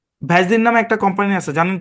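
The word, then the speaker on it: Vaseline: Actually জি ভেজলিন না, ভ্যাজলিন। ভ্যাজলিন।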